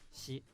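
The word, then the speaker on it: 四: The number 4 in Japan is either yong or shi, and shi has the same pronunciation as death.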